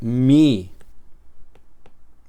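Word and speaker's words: μῦ: Ahora bien, en algunos libros de gramática griega enseñan que mu, el nombre de esa letra se debe pronunciar con una u francesa. Mu o incluso mi de esta manera. Y a veces incluso igual verás la letra escrita de esta manera. mi o mi, pero bueno, yo lo he aprendido como mu y así lo pronuncio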